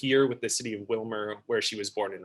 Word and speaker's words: Willmar: First of all, Carl, I'd like to say thank you for correctly pronouncing Willmar, as opposed to everyone else who sees it says Willmar.